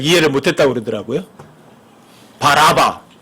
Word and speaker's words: 바라바: 바라바, 바아바. 그냥 원래 바라바도 바아바예요. 그리스 말로다가. 근데 연음 법칙에 의해서 여러분과 제가 바라바라고 이렇게 발음을 할 뿐이죠.